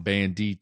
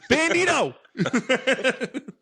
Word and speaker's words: Bandido: holograms, the band do I don't want to say it wrong. Bandito. Don't say that wrong. Goddamn. Bandido.